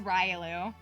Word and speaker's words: Riolu: it like that Ru I think it's technically pronounced Riolu but like I don't know I always knew it as Riu that's how I always read it as a kid and so like that's how I know that that's like that's how I say it I'm pretty sure that it's pronounced Riolu I think that's what